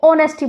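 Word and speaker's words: honesty: noun जैसे कि ऑनेस्टी इसको नेस्टी नहीं इसको ऑनेस्टी प्रोनाउंस करते हैं लव हो गया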